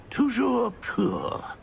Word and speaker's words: Toujours pur: I order you to pronounce it for me. But Master knows that Scrope's French is most pitiful. Very well. Toujours pur.